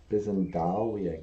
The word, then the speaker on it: bizendawieg: Bizendawieg. That's how you say it.